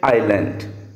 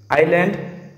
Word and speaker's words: island: where it will be an honest man h is silent here in this way island island here also the sound i any oh sound